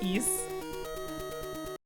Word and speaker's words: Ys: Yeah, it's ease.